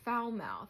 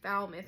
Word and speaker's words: Falmouth: And when I first saw that, I was like, oh, Falmouth. I was calling it Falmouth. It's Falmouth because in New England, people pronounce things weird.